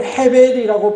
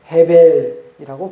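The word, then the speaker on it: הֶבֶל: 히브리어는 헤벨이라고 발음을 합니다. 아벨을 어떻게 발음한다고요? 헤벨이라고 발음을 해요.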